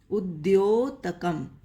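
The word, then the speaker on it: उद्योतकम्: ये जो संयुक्त अक्षर है इसको लिखा जाता है द आधा और य। इसका उच्चारण होगा द्योतकम, उद्योतकम।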